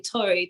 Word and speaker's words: Taurie: make certain that I pronounced it correctly. So please correct me if I did not. No, you said perfectly, Tori. Tori is Taurie, perfect.